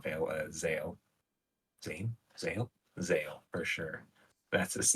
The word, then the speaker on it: Zale: them is Vil not Veil Zale Zan Zale Zale for sure that's his name and the other one looks like it's pronounced Valor valer or something but maybe it's